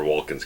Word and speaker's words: Walken: the son of Christopher Walken's character in the film you plays you pronounce the L that's why I've always heard it you go for a walk outside okay I've never pronounced the